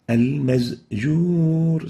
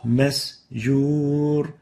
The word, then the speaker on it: مسجور: Another example is mixing the sound of the sin with the sound of the zay. Example. المزجور Al-mazjur. So instead of the sin, we pronounce it as a zay. Al-mazjur. And this is wrong. The proper way of pronouncing it is like this. مسجور Masjur. You have to make sure to pronounce the sin free from the zay sound.